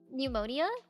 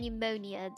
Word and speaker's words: pneumonia: So like pneumonia, I would pronounce it with a slight P, and pneumonia, I would say it like that.